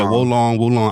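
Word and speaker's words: Wo Long: Then we have Wolong Fallen Dynasty for the PlayStation 5 and 4. How do you pronounce that? Is Wolong. Wolong? I hear people say Wolong.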